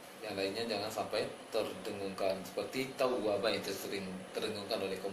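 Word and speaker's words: تَوَّابًا: Seharusnya kana tawwaba, ditahan dia, tawwaba, jangan dibaca tawwaba.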